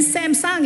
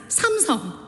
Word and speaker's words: Samsung: It is supposed to be Hyundai and Samsung is not Samsung, it's Samong.